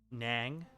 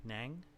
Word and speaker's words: Nang: it you can just pronounce my name as Nang rhyming with gang Nang okay okay I don't